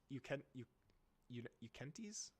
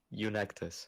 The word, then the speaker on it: Eunectes: Eukentes? How the fuck do you say her name? Eunectus.